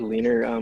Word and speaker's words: Leanr: my entire life so what is leaner it's pronounced leaner correct yeah later leaner leader is basically going